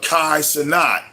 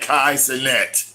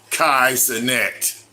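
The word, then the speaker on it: Kai Cenat: and all he does oh I'm sorry Kai oh she corrected me his I said his name wrong my bad Kai CET don't mess up nobody's name Kai CET okay he's on Twitch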